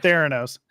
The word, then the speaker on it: Theranos: Theranos.